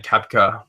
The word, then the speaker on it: Koepka: I don't know if you guys have any thoughts on Koepka before we move on.